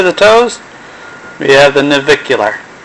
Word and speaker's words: navicular: wrong if I don't look at it the navicular which is right in front of the talus on the foot so these are the toes we have the navicular right here and if you want to see